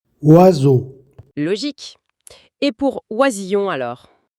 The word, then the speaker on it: oiseau: Résultat, il se prononce the. Exactement, on prononce oiseau.